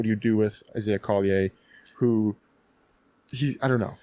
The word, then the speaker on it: Collier: Like your your Canadianness is showing through cuz you're pronouncing it like the way that probably the uh ancestors of that name pronounced it. But in America, you got to pronounce all of your consonants. So, Collier.